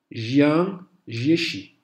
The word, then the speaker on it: Jiang Jieshi: de petites variantes mineures, ou Jiang Jieshi. Donc ça, c'est le plus proche de la prononciation chinoise.